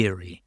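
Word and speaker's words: Eyrie: This is in the magazine's regular column, The Eerie, uh, which is spelled E Y R I E, in case you're wondering.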